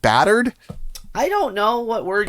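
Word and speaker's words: bâtard: what is a batard well how do you pronounce batard batar batar batar you don't even say the d you don't i can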